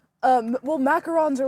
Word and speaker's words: macaron: lone shark de uh due to a failed macaroon business, which macaron.